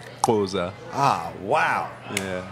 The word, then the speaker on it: Xhosa: Goza. And that's spelled Xhosa. Is that one? Yes. How do you say it? Xhosa.